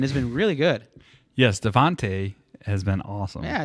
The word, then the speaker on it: Devonta: Yes, Devontae has been awesome.